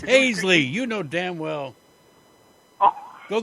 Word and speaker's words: Hasley: told him I well in Louisiana they might pronounce it hassle but in Iowa it's pronounced hazley well and then you said